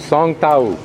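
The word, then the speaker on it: สองแถว: to be photographed behind me, he says I pronounce it Song Tao.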